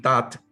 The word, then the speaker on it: Tutte: Y es que, por ejemplo, grandes matemáticos como Bill Tutt, se escribe Tutte, que fue el padre